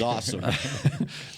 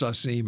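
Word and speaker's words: Asim: he proves he's awesome but he pronounces it I know awesome awesome I wonder though if indeed he if it was pronounced assim and then he got into college and his teammates and coaches said no we're calling you awesome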